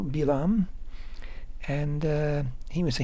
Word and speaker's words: Bilaam: by the name of bilam that's how we say his name in Hebrew bilam and uh he was